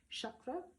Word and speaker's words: chakra: um the chakras are chakra means Wheels in Sanskrit and a little note on the Sanskrit pronunciation here um it's not chakra chakra is a cucumber uh chakra however is the wheel of energy that is in the